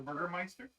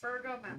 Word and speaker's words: Burgomaster: The Burgermeister? That's Burgomaster. Burgermaster. Burgomaster.